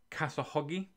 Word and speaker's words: Khashoggi: I believe that's the correct pronunciation. Khashoggi.